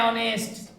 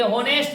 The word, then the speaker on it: honest: क्योंकि इसको जो पढ़ा रहा है, ये प्रोनाउंसिएशन हो रहा है वो इस प्रकार से हो रहा है, ऑनेस्ट। ठीक है, ये होनेस्ट नहीं पढ़ाते। होनेस्ट पढ़ाता तब हम लोग एच के अकॉर्डिंग लगाते तो ए लगता, तो एच यहाँ साइलेंट है, नहीं पढ़ाता है, इसलिए हम लोग यहाँ पे ऑनेस्ट पढ़ते हैं, तो क्या लगेगा?